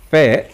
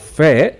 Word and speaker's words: ف: of its name so the sound of fair is just same as the f in english type let's take amphila examples